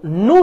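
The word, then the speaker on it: know: Sheikh Kamal নো that, এটা উচ্চারণটা আমরা অনেকে নিউ করি, হ্যাঁ নিউ না, উচ্চারণ হচ্ছে নু নু নো নু নোন, ওকে নো নু নো না, আমরা নিউ বলি, নিউ না।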